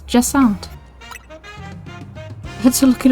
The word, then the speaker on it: Jacinthe: Turns out I've been pronouncing her name wrong. It's Jessant.